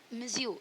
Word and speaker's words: monsieur: और मिसेस बोलते हैं, इसी तरह मिज्यू is Mizzou, M for Mr and MME, that is mistress. So Mizzou करके इसका फ्रेंच वर्ड है, इसका स्पेलिंग होता है MONSIEUR।